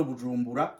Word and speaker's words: Bujumbura: Ça veut dire le restant de la province de Bujumbura sans la mairie. On prononce toujours Bujumbura. Ce n'est pas Bujumbura, non, c'est Bujumbura. En Kirundi, le B est doux.